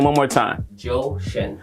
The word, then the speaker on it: Zhou Shen: Zhou Shen. Zhou Shen. Zhou Shen. Zhou Shen. I wonder if his real name is Joe. It's spelled Z-H-O-U, but it's pronounced Joe.